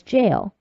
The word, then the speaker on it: gaol: the problem for example gaol is pronounced as jail but is also written as J a I L in the phrase of